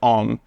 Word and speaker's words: OMM: The brand, usually pronounced OMM, was created to make gear suited to the